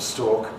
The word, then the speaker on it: stalk: But for me and for most English people, stork and stalk are identical.